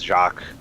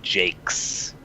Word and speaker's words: Jacques: assessing me out for pronouncing his last name as Jacques which is like a French pronouncation pronunciation and I assume all of they're all Americans who were pronouncing it as Jake's no is Jacques seriously yeah no people were so mad